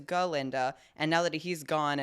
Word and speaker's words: Galinda: We have that moment where she's like, oh, well, the way that Dr. Dillman used to pronounce my name was Glinda instead of what it is, Galinda.